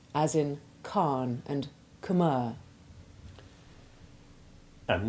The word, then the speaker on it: Khan: But such a sound is alien to English, and you can regard the H as silent in words like Khan, Khaled, and Khmer.